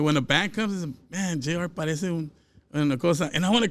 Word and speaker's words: JR: Says or Jr.?